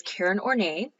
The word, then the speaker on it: Karen Horney: Is Karen Horney and that's how you have to say her name because she would not like it if you mispronounced her name.